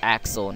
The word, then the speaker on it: Axel: Or Axel, not Alex.